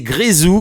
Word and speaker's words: Grézou: Je l'ai mal prononcé toute la semaine, mais c'est Grezou qu'on accueille en direct sur Ado Fun Web Radio.